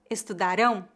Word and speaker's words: estudarão: passado eles trabalharão futuro Eles estudaram passado eles estudarão futuro eles comeram passado eles comerão futuro eles